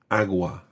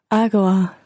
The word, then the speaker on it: agua: mineral an agua mineral it's a very very soft agua agua now notice the difference between agua and agua agua agua certainly in spain you would definitely see something more like agua agua aqua as opposed to a very hard agua mineral and you might